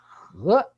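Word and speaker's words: 禾: Okay, and 秋呢 has on the left, okay, a character pronounced as 和, meaning rice, okay, or rice grain.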